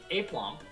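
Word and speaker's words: aplomb: all right it's called it's pronounced a plump uh self-confidence or assurance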